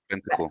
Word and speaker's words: Bentancur: Or I was going to say, how do you pronounce his name? Bentancur. Yeah. Bentancur.